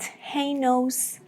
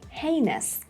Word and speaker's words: heinous: It's not Heinous, it's not Heinous, it is Heinous, Heinous. The first part has the main stress.